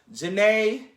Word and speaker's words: Jhené: Janae, Beyonce, Janae.